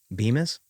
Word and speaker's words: Bemis: Bemis? B-E-M-I-S. How would you pronounce that?